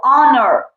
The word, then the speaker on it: honor: the sound with wall H is silent here so it is silent